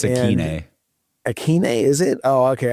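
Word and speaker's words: Ikhine: Yeah, Nick Westbrook at Inkhain, I think you say his name. it's Akeine.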